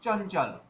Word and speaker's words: চঞ্চল: চ ল চঞ্চল চঞ্চল তো এই যে অনুস্বরটা আমরা ইয়া উচ্চারণ করছি চঞ্চল কেন কেননা এই অনুস্বরের পরে চ আছে অর্থাৎ চ বর্গ থেকে এসছে অনুস্বরের পরের বর্ণ তো এইজন্য ওখানে ইয়াটাকে এই অনুস্বরে উচ্চারণ করতে হবে তাহলে কি হবে চঞ্চল আচ্ছা তারপরে দেখুন ক